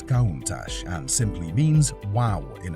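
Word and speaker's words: Countach: never been seen before the name kunach is pronounced as kach and simply means wow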